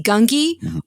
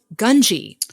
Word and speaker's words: Gungi: could be interesting um happy to see gunky or as I discovered Dave filoni called him gunji which I was like what have they been mispronouncing it this whole time I don't know anymore